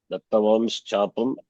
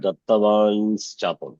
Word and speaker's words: दत्तवांश्चापं: Shankam Chavaruna Dattavam's chapam. That's a right pronunciation. Not Dattavan's chapam.